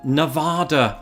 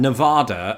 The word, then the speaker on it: Nevada: pronunciation of it and it's so hard for me to change it because it's it's just not natural um I think for British people to to pronounce that second syllable the way uh that is done here in the US, but you pronounce it. Nevada. Which I think is how uh people in Nevada uh would say it.